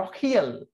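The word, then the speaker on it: L'Oréal: হয়ে what is লরিয়েল, ওরা এটাকে উচ্চারণ করে হলো লো। রিয়েলটাকে রিয়েল আর রিয়েল উচ্চারণ হয় না, ওরা আসলে উচ্চারণ লখিয়েল।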